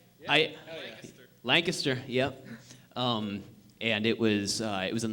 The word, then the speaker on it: Lancaster: Lancaster, yep.